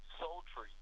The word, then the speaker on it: Souletri: It's called Soul Tree, and they're on Instagram and Facebook as well. They're called Soul Tree, and that's spelled Souletri.